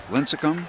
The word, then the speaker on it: Lincecum: Lincecum, there I said it right that time.